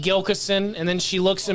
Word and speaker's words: Gilkison: how do you say it and I said gilas and then she looks at me and she